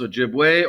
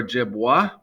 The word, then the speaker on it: Ojibwe: sue by the french the ojibwe have a couple different pronunciations they can be pronounced ojibwe or ojibwa and you see some different spellings there all the spellings are fine but themselves they call